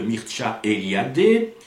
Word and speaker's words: Mircea Eliade: Oui, on dit bien Mircea Eliade, parce que beaucoup de gens prononcent Mircea Eliade, mais comme il s'agit d'un roumain, faisons un petit effort pour le prononcer à la roumaine.